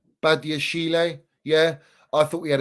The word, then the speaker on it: Badiashile: And I thought Badashil, how do we even say his name, man? I don't even know how to pronounce his name. Badiashile, yeah.